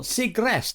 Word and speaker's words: Segrest: what she's got to say welcome michelle siegrest have i pronounced that properly yeah secrets you got it